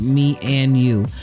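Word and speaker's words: MIANU: pronounc and again it's pronounced me and you.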